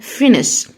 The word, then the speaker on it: finish: الاس اتش بننطقها ش، يبقى finish.